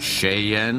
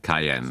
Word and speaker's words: Cayenne: properly, you realize it's Cayenne. So wie man spricht, es heißt Cayenne. Say it how it's written.